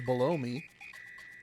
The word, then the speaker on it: Belome: I've always pronounced it Belome. But it also reads as below me. As in below. Below. As above, so below. Me. Although I'm just realizing I can pronounce it as blow me.